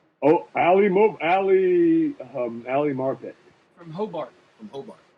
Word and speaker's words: Marpet: Ali Mo Ali Ali marpet from Hobart from Hobart his first his his last name rhymes with his school SB Nation is the